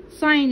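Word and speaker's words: sign: ساين لانجويج اللي هي لغة الاشارة، وطبعا هنا الجي لا تنطق، ساين لانجويج.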